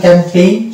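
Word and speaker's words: campaign: হচ্ছে না জি সাইলেন্স থাকছে নেক্সট অর্ডার দেখবো ক্যাম্পেইন শব্দের শেষে জি এন ছিল বলে জি সাইলেন্স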